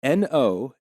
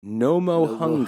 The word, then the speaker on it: Nomohunga: This is spelled rather NOMOHUNGA. That would be Nomohunga.